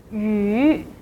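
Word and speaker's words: 鱼: The second word is fish, yu. As I've mentioned in last lecture, the Y is soundless, so here we only have to pronounce the final part.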